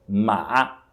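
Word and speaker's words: 马: e que significa cavalo repare a sílaba é a mesma é a sílaba é a sílaba Só que os tons são diferentes na primeira palavra é o primeiro Tom mas que significa mãe já na segunda palavra é o terceiro Tom marra que significa Cavalo portanto é muito importante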